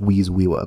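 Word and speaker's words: vis viva: at the concept of vis-viva which in latin uh means the life force and it might more appropriately be pronounced wheez-wewa but that sounds funny so i'm not going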